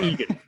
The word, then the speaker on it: Egan: Is this like John Egan? FPL Yeah. Egan.